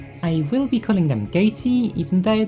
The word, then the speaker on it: Ghoti: will be calling them goatee even though the whole point of it is that it's pronounced fish oh and as a